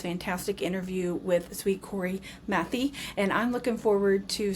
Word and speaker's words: Mathey: Mathey.